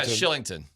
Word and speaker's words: Kylington: Shillington. But yeah. Okay. What's his I know he spells it with a K, but it's pronounced Yeah. There you go. Shillington.